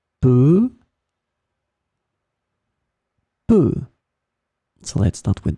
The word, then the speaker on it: peu: In this lesson, we will discover together two words that are written differently but pronounced the same way. Peu, peu.